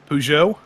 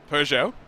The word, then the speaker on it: Peugeot: Peugeot. Peugeot. I was on the drive home from Pittsburgh the other day. We were listening to Car Talk in the car, and both of those guys said Peugeot as well.